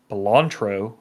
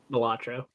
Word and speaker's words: Balatro: They've got Astrobot, Belantro. I guess that's how you say it. Balatro.